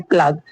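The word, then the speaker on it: plague: हो रही है जैसे प्लग प्लग प्लग में भी क्या है यू साइलेंट हो गया प्लग सॉरी प्लेग प्लेग में भी यूं साइलेंट हो गया है जैसे महाभारी प्लेग को महामारी कहा जाता है।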